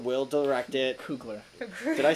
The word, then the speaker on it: Coogler: But from Marvel, Black Panther 2 officially confirmed in 2022, and Ryan Coogler's directing it again. Ryan Coogler will direct it. Coogler.